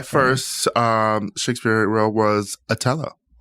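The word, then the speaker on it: Othello: Atello. That's how they do. Yes. In the in theatra. In theatra. I've never heard the hard T.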